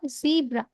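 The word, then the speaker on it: zebra: এরপর হচ্ছে জেড ফর জিব্রা। জেড ফর জিব্রা। জিব্রা মানে জেব্রা। জিব্রা মানে জেব্রা। আমরা বলবো জেড ফর জিব্রা। জিব্রা মানে জেব্রা। ঠিক আছে, বাংলায় জেব্রা, আর ইংরেজি যখন বলবো জিব্রা।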